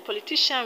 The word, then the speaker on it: politician: syllable from the end in politician we have the stress on ti politician in electrician we have